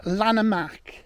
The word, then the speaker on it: Llanymynech: this will lead us up to so it's pronounced lanak so there's the wall so all these layers